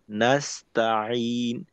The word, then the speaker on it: نستعين: আবার ইয়্যাকা না'বুদু ওয়া ইয়্যাকা নাস্তাঈন। إياك نعبد وإياك وإياك نستعين. نستعين. হুম নাস্তাঈন, নাস্তাঈন, নাস্তাঈন। সিনের শেষে তায়ের মিলনটা একেবারে মসৃণ থাকবে।